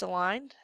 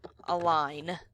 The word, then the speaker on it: align: I'm going to click that left aligned to move it back. So that is called, click down here, that is called center align. You don't pronounce the G, that's silent, okay?